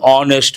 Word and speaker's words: honest: You cannot say h he an honest man. H is silent. Based on that we have to say an honest man.